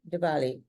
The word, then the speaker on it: Diwali: because we have friends who are that celebrate Diwali, for example, and that was really, really, did I pronounce it correctly, by the way? Diwali. Some Yes. say Diwali, some say Diwali.